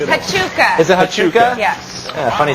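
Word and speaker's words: Huachuca: I have no idea how to pronounce it. Hachuka. Is it Hachuka?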